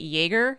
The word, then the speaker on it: Yeager: your last name kate yeager is it actually just like an attack on titan oh my gosh yeah it's it's uh it's